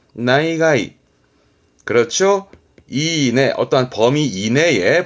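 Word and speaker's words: 内外: 내외, 안과 밖을 의미했던 내외 발음, 그래서 나이가이, 나이가이.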